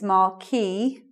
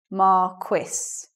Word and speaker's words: Marquis: Well, no, I found out people do say it either way, but the French pronunciation is Marquis, whereas, let's say, according to the dictionary, the standard pronunciation of that in English is Marquis.